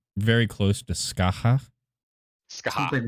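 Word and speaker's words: Scáthach: pronounced very close to Skaha.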